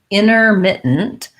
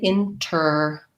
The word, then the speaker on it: intermittent: So I can say intermittent, but you'll see that Americans don't really do that. They tend to do more of a leaving this T out. It sounds more like intermittent.